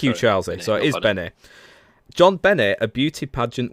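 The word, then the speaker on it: JonBenét: John Bennett, a beauty pageant winner.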